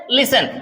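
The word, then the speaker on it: listen: लिसन क्या पढ़ते हैं लिसन यहां पे टी साइलेंट है जब टी साइलेंट है तो इसे केवल पढ़ते हैं लिसन यानी टी नहीं बोला जाता है एस से आगे बढ़ जाते हैं लिसन टू क्लियर याद रखिएगा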